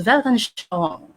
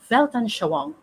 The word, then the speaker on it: Weltanschauung: I don't know if I can still pronounce it, but I think it's pronounced as Weltanschauung. Weltanschauung.